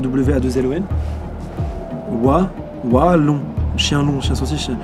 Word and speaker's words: Wallon: Oh, stade Ernest de Vallon. Stade Ernest de Vallon. Stade. Non, ça tient pas. Vallon. Ah si, c'est ça. Par contre, bah, c'est sûr, c'est ça. Waouh. Parce que Vallon, ça s'écrit W-A-2-L-O-N. Wallon.